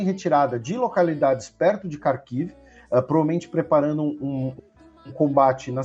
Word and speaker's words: Kharkiv: Na região de Kharkiv, né? Ou Kharkov, na pronúncia russa.